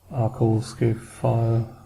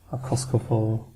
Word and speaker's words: Arcoscephale: Since they are Greek inspired, I'm pretty sure that's a hard K. So Arcoscephale, Arcoscephale.